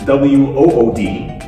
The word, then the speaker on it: wood: W-O-O-D, wood, or W-O-U-L-D, wood. They have the same pronunciation. They're actually the same. And many students. Exactly the same. Exactly the same. There's no difference.